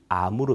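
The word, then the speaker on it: Амур: 있습니다 아서 금강 인데요 이 흑룡강 의 느 시아 발음이 아무르 입니다 그래서 아무로 강연 하네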